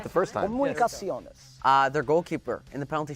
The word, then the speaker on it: Comunicaciones: Comunicaciones.